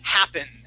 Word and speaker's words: happened: Okay, the word is happened.